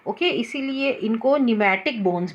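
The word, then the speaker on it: pneumatic: Okay, इसीलिए इनको न्यूमैटिक bones भी बोलते हैं। पी जो है इसमें साइलेंट होता है, इसको न्यूमैटिक बोन्स भी कहा जाता है।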